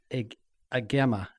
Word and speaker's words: Agema: So you actually pronounced it correctly. It's Agema.